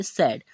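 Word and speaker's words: said: तो यहां पर हमने ए आई से इस तरीके से ठीक है और डी से यहां पर ड ठीक है तो इसे हम क्या पढ़ेंगे सेड तो सेड का जो मीनिंग होता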